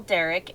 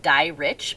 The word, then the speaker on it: Dierich: anyway um and derek and michelle's name is spelled really different too it's it looks like dye rich but it's pronounced derek she pronounced it derek